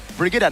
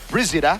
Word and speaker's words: Brigida: Her name is Brigida, not Brizida.